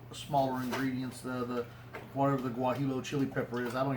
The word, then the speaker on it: guajillo: Guajillo. No, Guajillo. Yeah, you do not pronounce. Wait, G's, Guajillo like- Monster.